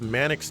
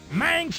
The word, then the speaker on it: Manx: something into the stores I always get this game confused with Mannix TT Superbike which is also from Sega on the Saturn or makes like the game pronounces it Manx TT Superbike I've never ever liked